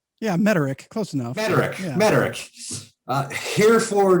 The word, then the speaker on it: Mederich: purpose growth podcast today i've got uh jordan meredith did i pronounce it right yeah mederick close enough frederick uh herefore known unto now